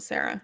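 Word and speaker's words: Cera: down after uh mike well you pronounce uh michael sierra is that sarah yeah michael sarah yeah there excuse me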